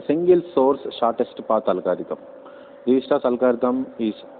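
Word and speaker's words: Dijkstra: at an algorithm called Dijistra's algorithm. We have to pronounce this algorithm. Actually, the spelling is Dijktras, but we have to pronounce this as Dijistra's algorithm. Here K is silent.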